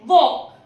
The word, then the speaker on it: walk: एक और केस है जब भी के पहले एल आ जाए तो भी एल साइलेंट होता है। जैसे TALK टॉक, टांक नहीं होता है वो। WALK वॉक, CHALK चॉक।